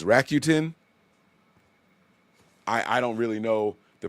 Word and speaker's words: Rakuten: My wife told me I was saying this wrong. I said Rakuten. She says it's Rakuten.